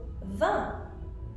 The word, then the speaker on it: vin: There's also vin. Vin is wine. Vin could also be 20, depending on how it's spelled.